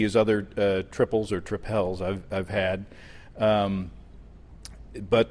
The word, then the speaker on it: tripel: need it to rhyme so I have changed my pronunciation officially to tripel Citadel tripel that's what it is you marketing guys all